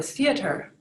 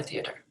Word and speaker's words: Theater: as our word for theater. But in German, it's pronounced Theater. Theater. So you can clearly hear the different letters and the syllables in that word.